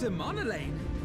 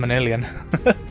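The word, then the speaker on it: Emmanellain: Okay, Lord Emanolaine. I've been saying his name wrong. Ah, yes. Emanolaine de Fulton, at your service. I've been calling him Emanalian.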